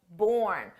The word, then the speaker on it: borne: it's born that's right born with an optional e for spelling but pronunciation is exactly the same in the past simple